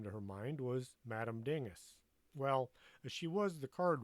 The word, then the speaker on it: Dingus: What can Madame Dingus, pronounced Dingoose, more hoity-toity that way, do for you today?